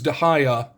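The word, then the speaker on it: De Gea: uh not it's pronounced I know the last name is dahaya because he's a Spaniard and I think it's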